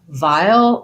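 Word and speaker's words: vile: So vowel as in repulsive and vowel as in a small container of something have the same pronunciation. So they both have the diphthong I, the voiced V, and the dark L, vowel. So there's a little bit of an I and I'll, vial. Yeah, okay, so same pronunciation for those two words, and the challenge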